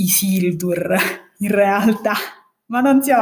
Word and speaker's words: Isildur: è neanche riguardante l'argomento riguarda semplicemente il nome del personaggio che noi siamo abituati a pronunciare i siti perché così lo sentiamo pronunciare nella versione italiana il film però in realtà l'accento dovrebbe cadere sulla seconda e quindi dovrebbe dirsi isili tour in realtà ma non